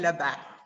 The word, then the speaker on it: Lubbe: It's Lubbe.